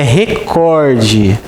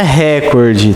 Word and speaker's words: recorde: Pessoal, a pronúncia correta desta palavra é recorde. Não é recorde, tá?